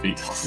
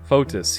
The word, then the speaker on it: Photis: I know it's not pronounced fetus. Yeah, I figured. You and Gloria glance at each other again. Photis, he is a patriarch, the head of the clergy throughout the entire province.